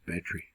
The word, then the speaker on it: battery: 2 syllables, battery.